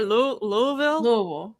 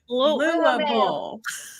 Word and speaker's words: Louisville: We have to teach people how to say Louisville. Wait, how do you say Louisville? Louisville.